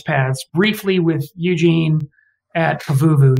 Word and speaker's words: Pavuvu: with eugene at pavuvu you say it like i do by the way i say i've always all my life said pavuvu and most many of the veterans i've talked to say it like that you will hear some people say pavavu i just say anyway